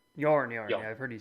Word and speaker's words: Joern: Do the rules that I assume that man, how do you pronounce it? Yawn. Yawn.